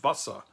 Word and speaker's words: Wasser: And it's still pronounced Wasser. So the Z in medieval manuscripts may represent an S sound.